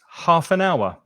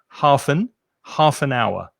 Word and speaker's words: half an hour: So 30 minutes, half an hour. And be careful of the pronunciation. Half an joins together. Half an hour.